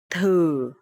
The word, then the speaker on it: thử: Okay, so here the letter TH, and you will pronounce thờ, thờ. And here the tone mark is dấu hỏi, so it will be thử.